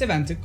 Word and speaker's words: Niina: It's Eventic, like an E, but you can just call her Niina.